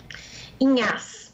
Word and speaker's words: Inhasz: Antes de tudo, eu gostaria de perguntar, a pronúncia está correta? Inhas, é isso, professora? Inhas.